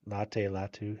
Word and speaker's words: Latu: Latu.